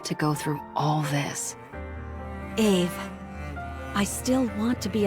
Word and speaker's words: Ave: The text says Abe, but they seem to be saying it as Ave.